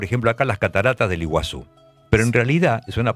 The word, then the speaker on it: Iguazú: decir agua y guasú es grande claro entonces iguasu quiere decir agua grande del mismo modo que